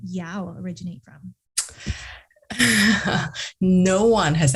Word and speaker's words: Yow: So where does your last name Yow originate from? No one has ever asked me that actually. So it's a Chinese last name. In Mandarin, it's pronounced as Yu.